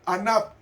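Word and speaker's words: ענו: ¿Y sabe cómo se pronuncia manso en hebreo? Anab.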